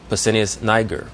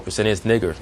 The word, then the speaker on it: Pescennius Niger: Pertinax, Pescennius Niger, or Pescennius Niger is the actual pronunciation of that name.